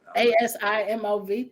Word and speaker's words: Asimov: Asimov.